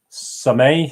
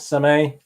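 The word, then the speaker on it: Sommeil: this is wonderful David some a is how you pronounce it some a that great kit so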